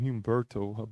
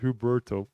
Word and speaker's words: Huberto: I keep saying Humberto, but it's just Huberto Rodin.